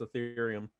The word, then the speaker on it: Ethereum: to let users pay with Bitcoin, Litecoin, and Ethereum. Is that how you pronounce it? Yes, Ethereum.